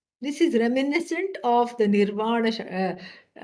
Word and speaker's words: Nirvana Shatkam: Some people don't know how to pronounce. They say Nirvana Shatakam. Shatakam means 100 verses. No, no, no. There's only 6 verses. Okay. And so Nirvana Shatka. Shatka means group of 6.